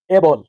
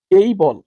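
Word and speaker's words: able: যেমন আমি যদি আপনাকে উদাহরণ স্বরূপে বলি আমরা এটাকে করেছি এ বল। ভুল। ভুল করেছি। এর সঠিক উচ্চারণ হবে এই বল।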